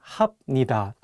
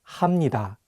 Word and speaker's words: 합니다: For example, if you just read the Hangul on their own, you might want to say 입니다 and 합니다. But the correct pronunciations are actually 입니다 and 합니다.